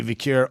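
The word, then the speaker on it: Vaquer: Yeah, it's got to be Vicure all day, every day, and twice on Sunday.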